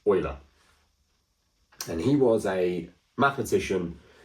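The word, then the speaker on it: Euler: this guy here called Leonard oer not Ula it is pronounced oer and he was a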